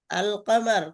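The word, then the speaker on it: القمر: আল কামারু এখানে লামটা উচ্চারণ হয়েছে, এজন্য এটা কমারিয়া, বুঝছেন?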